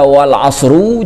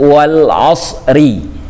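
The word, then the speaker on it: وَالْعَصْرِ: Nah, makanya di dalam surah Al-'Asr tidak dibaca wal 'asru, juga tidak dibaca wal 'asra, dibacanya wal 'asri.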